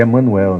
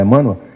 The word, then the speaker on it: Emmanuel: Como Emmanuel bem coloca, Emmanuel ou Emanuel, para a gente em português, claro, seria Emanuel, né? Bom, mas o que se pronuncia normalmente é Emmanuel.